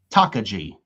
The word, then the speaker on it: Takagi: That's 21-28 says it's pronounced Takagi.